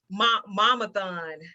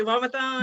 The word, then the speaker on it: Momathon: She is the owner and founder of Momathon. I pronounced it right, Momathon?